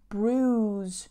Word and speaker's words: bruise: swell up and bruised careful with the pronunciation of this bruise no ruie ruies bruise now to bruise you can